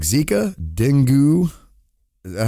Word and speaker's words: dengue: Mosquitoes capable of transmitting dangerous diseases like Zika, dengue. Is that how you pronounce that? Dengue virus?